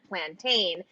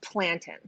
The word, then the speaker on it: plantain: of this word because our friend Marcy Ian has given me strict instructions that I am never to call it plantain, that it should only be referred to as plantain. So how do you say Marcy is correct. It is plantain.